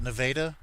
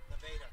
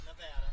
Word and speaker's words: Nevada: Uh out of Nevada, Missouri. They pronounce it Nevada. Nevada, not Nevada.